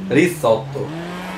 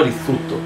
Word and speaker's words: Rizzuto: Rizzotto. No, Rizzuto. Ah sì, però ho scritto Rizzotto. Ah, ecco, perché te devi pronunciare. È Rizzuto, che è un po'.